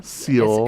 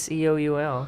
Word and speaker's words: Seoul: No, Seoul. It's Seoul. Seoul. So. I think you just barely say the E. Because a lot of people Seoul. say Seoul Seoul. in Seoul, but I think it's Seoul.